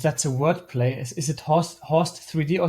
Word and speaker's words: HORSES3D: Is it Horst 3D or is it Horst Dead when you pronounce the name of the code that you've developed? I would call it Horses 3D.